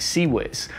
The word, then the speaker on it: CIWS: the original system is called the phalanx ciws pronounced sea whis the seawiz was designed in 1969 and was intended to